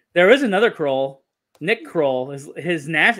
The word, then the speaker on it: Kroll: is another croll nick kroll is his his last name is pronounced like kroll but it's spelled with an o instead of a u he had a comedy